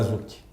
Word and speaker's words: Zouk: O Zucchi se escreve Z-O-U-K.